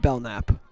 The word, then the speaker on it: Belknap: I believe it is pronounced Belknap.